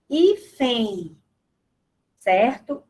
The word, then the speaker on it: hífen: por exemplo, a palavra hífen, né? O N do final, ele tem um som do I, hífen, certo? Então, a letra N final traz som de I, da semivogal I, tá?